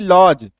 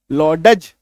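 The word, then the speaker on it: lodge: ठीक है, अभी देखो LODG, डी के बाद जी है तो डी को काट दो, LOG, लॉज, लॉडज नहीं पढ़ेंगे, लॉज पढ़ेंगे।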